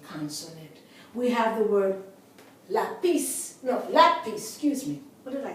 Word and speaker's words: lápiz: It should be on the last syllable because it ends in a consonant. We have the word lápiz.